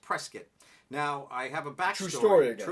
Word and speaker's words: Prescott: Prescott yes it looks like Prescott but it's pronounced Prescott now I have a Bachelor sword a true